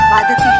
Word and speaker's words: बाधते: कि राजा, मुझे ये भार कष्ट नहीं दे रहा जितना आपके मुंह से बोला हुआ बाधती शब्द कष्ट दे रहा है, क्योंकि बाधते शब्द का अशुद्ध उच्चारण आपने किया है। ये शब्द बाधते होना चाहिए।